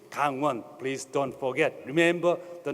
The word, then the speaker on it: Gangwon: of the forest currents Kangwon as penguin so it sounds like the gang defeated the police so not so good the exact pronunciation is hang one please don't forget remember